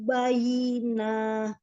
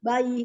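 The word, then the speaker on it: بَيِّنَة: Hatta ta'tiyahumul bayyinah. Enggak panjang, bayyinah gitu. Bayyinah. Hatta ta'tiyahumul bayyinah. Gimana ya Ustazah, kok kayaknya nggak enak ya. Bayi bacanya.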